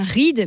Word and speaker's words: Ried: différents dialecte alsacien et ça se prononce bien ride même si ça s'écrit r i e d et ça viendrait en